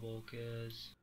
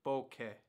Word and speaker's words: bokeh: big book as small Bocas Boca Boca that is incorrect the correct pronunciation of the term is bouquet shadows weigh as much